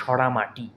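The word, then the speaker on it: Saramati: দেখো এটা আমরা এভাবে মনে রাখতে পারি, সরামতি শেষে দেখো কি রয়েছে, MATI রয়েছে, তো একে আমরা মতি না বলে মাটির মতো উচ্চারণ করব। তাহলে সরামতিকে আমরা কি বলবো? সরামাটি।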